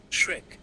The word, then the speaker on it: Schrick: Hey Siri, how do you pronounce shriek in German? Shrek.